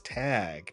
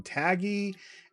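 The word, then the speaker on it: Tagge: in the movies but it is tag tag I think I heard someone call him tagy and then someone else called him Tage um but it would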